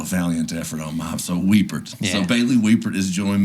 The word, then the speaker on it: Wiepert: say your last name wiper nope that's that's what everybody says everybody that's what I'm saying there's only there's a couple handfuls of people that have ever said it right yeah uh it's weeper see that was the